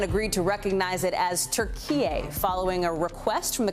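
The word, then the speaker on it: Türkiye: to recognize it as turkey following a request from the country's foreign minister that's how it's pronounced in turkish the move is seen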